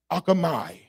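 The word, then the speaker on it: ἄρχομαι: It is the Greek word akamai. Akamai is sometimes the pronunciation, A-R-C-H-O-M-A-I.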